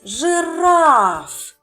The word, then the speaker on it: жираф: На який склад ми з вами поставимо наголос? Жираф. Так, на другий склад, на голосну а.